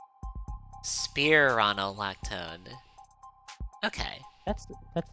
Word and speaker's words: spironolactone: There's like spironolactone and spironolactone. Okay. There's like two different pronunciations for it apparently. Huh. So it it could go either way. Spearronolactone.